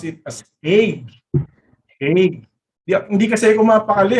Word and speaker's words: Hague: Sabi ko, Kuya Kim, how do you pronounce H-A-G-U-E? Pinronounce ko kasi ng Hage. Sabi niya, mali yung pagkaka-pronounce mo. Ang sabi niya sa akin, pronounce it as Hague.